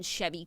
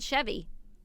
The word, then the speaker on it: Chevy: Chevy Chase Chevy yeah his name spelled Chevy it's Chevy okay well Chevrolet has co-opted the name Chevy Chase I'm obsessed don't make fun of me from pronunciations because I learned it by reading it no and it's confusing like a Chevy is a car so but Chevy right so Chevy Chase recently